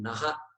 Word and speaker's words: नः: There is a visarga there. There are two dots there. And so that must be pronounced. So that we indicate we are saying naha, not na.